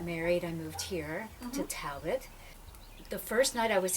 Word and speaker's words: Talbott: am here in beautiful Talbott. Talbott? Talbott. See, I've already It- messed up. No, you haven't because somebody pronounces it that way out there.